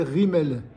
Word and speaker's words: Guimel: remarque donc la lettre Guimel son comme son nom l'indique elle se prononce gu elle se lit avec